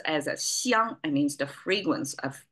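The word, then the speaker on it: 香: but simplified, you can see, that means that pronounced as a xiang, it means the fragrance of food.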